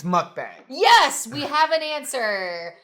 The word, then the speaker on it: mukbang: say mukbang okay so is it mukbang its mukbang yes we have an answer high five so